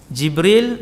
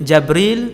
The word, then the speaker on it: Jibril: Jibril, Jabril, Jibrail, Jibrail. 4 cara baca. Semua sahih.